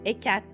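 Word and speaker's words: Hécate: And in English, like, Hecate, it's just Ecat. In French. Like, it does, we don't pronounce the last E.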